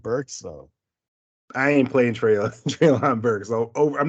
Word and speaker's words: Traylon: And I got a 100-yard game with Traylon Burks. That puts me in. Traylon. He's saying his name wrong. Yeah, I said Traylon. Traylon. Yeah. No, you said Trayvon.